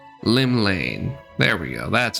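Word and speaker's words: Llymlaen: of the nation's Patron deity Lim l L Lim Lane there we go that's how you pronounce it what realm shaking Fate has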